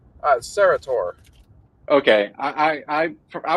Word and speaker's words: Sarratore: we got uh Mr how do you pronounce your last name uh serator okay I I I I was very close